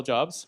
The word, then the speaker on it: Job: Bill cool name Bill jobs right that's cool uh my name is job actually yeah okay I haven't been correcting people so Steve Jobs influenced the pronunciation yeah okay well we'll